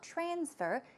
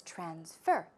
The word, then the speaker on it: transfer: When this word is used as a verb, the stress goes right there on the second syllable. It's not transfer, it's transfer.